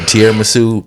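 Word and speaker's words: tiramisu: T what's it called did I say it wrong no you said it right T yeah whatever tiar masu popping okay so so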